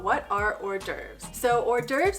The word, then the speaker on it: hors d'oeuvres: So hors d'oeuvres is a French word, and no, it's not pronounced hors d'oeuvres.